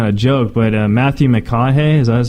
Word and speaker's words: McConaughey: it's not even a joke but a Matthew McConaughey's I was how you say his name yes